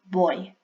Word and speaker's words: voy: Our V's sound like B's when we pronounce, but not too much, so they're more rounded, so voy, vas, va, vamos, vais, van.